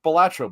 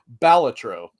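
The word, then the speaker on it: Balatro: producers of of well they called it Bolatro, but if I'm not mistaken I believe that the guy that made it confirmed it is pronounced Baltatro that's all I'm going to say from now on.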